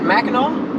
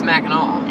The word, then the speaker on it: Mackinac: We are headed to, do you say it Mackinaw? Yeah, it's Mackinac. Okay. But it's spelled funny. It's spelled like Mackinac, Yeah, but it's Mackinaw.